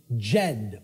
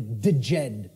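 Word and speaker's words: Djed: was known as the the Jed or the theed pillars depending on how certain people pronounce it and these Jed pillars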